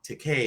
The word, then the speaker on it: Takei: Takei. George Takei. Takei. I always got to make sure to pronounce the EI at the end.